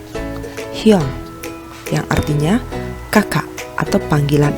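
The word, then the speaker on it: 형: Ada hiet, yo, dan iyeng. Dibaca? Betul. Hyong. Hyong, yang artinya kakak atau panggilan adik laki-laki kepada kakak laki-laki.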